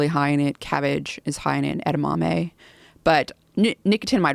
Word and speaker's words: nicotinamide: But nicotinamide riboside, which gets converted into that, which eventually makes its way to NAD, is a supplement.